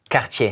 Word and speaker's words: Cartier: So Cartier, yes.